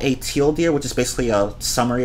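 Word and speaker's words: TL;DR: whatever it doesn't matter teal deer yeah right teal deer sounds like teal deer and there was actually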